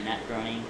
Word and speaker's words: Groening: Matt Groening. Is that how you say his name? Yeah, Matt Groening.